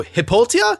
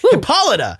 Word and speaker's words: Hippolyta: box and all hell breaks loose uh so hipoltia hipolta how do you say her name oh that makes sense now reading is fun hippolyta is on the scene queen of the amazons